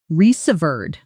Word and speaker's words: reserved: Pronunciation resverred. Stress on the second syllable. The served part rhymes with curved.